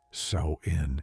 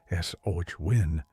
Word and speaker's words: Samhain: and the other thing, Samhine, pronounced sin in Irish, s o win in some Scottish forms, marked the end of summer, the final harvest.